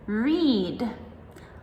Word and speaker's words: read: Now, read can also be read in the past tense, but it's spelled the same, R-E-A-D. So this one is super tricky because depending on if you're speaking in the present tense or past tense, we pronounce it differently.